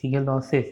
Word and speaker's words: Shigellosis: Cause by इसका bacteria का नाम है सिगेलियोसिस, सिगेलोसिस। इसका स्पेलिंग मैं स्पेल कर देता हूँ, SHIGELLOSIS।